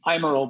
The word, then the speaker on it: Eimerl: Eimerl, but nobody pronounces it right, so it's all good.